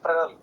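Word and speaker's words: Fresnel: Fractional जब हम बोलते हैं ना तो उसमें एस प्रोनाउंस नहीं होता, इट इज फ्रेनल, है ना?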